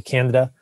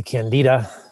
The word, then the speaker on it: Candida: all over the place i always say canada people say candida you say tomato i say tomato neither of us eats